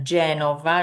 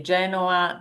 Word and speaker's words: Genova: Toscana, Bologna nell'Emilia Romagna, Genova, remember it's Genova with a V, in Liguria. If you say Genoa, that is the football team.